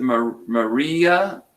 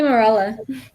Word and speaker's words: Morella: How do you say that double L throws me off every time. Is it Maria or Morella? It's actually Morella. Morella, because usually a double L is like a Y, but isn't it?